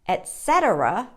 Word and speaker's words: etcetera: how to pronounce it the correct pronunciation of this little word is etcetera or etc etc or etc most of the times